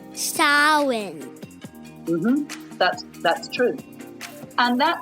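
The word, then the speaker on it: Samhain: a m h a i n but it's pronounced sa mhm that's that's true and that lasts from October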